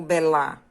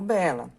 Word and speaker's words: bela: Qual é a sílaba mais forte? Eu digo bela ou belá? Digo bela.